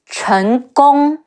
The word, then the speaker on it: Chen Gong: main strategist and advisor, Chen Gong. Chi En, Chen, Ge Ong, Gong, Chen Gong.